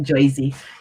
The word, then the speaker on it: Jersey: new jersey you see they call it joysy they don't call it jersey they don't pronounce ours in new jersey um on december 1979